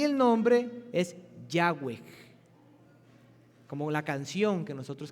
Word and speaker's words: Yahweh: una pronunciación en aquellos que querían entender cómo pronunciar el nombre. Y el nombre es Yahweh, como la canción que nosotros cantamos el domingo pasado.